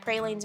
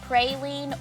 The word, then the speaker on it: praline: No matter how you say it, praline or praline, this is a must-try Southern classic recipe.